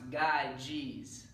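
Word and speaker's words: Gyges: a video on the ring of guide jeans pronounced guide jeez alright and when watching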